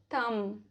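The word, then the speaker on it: thumb: B silent रहता है after M, before T. For example, lamb, डम, थम, प्लमर, टूम्ब, वूम।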